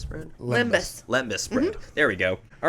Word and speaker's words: lembas: Did I pronounce that right? Lambda bread? Limbus. Lembus bread.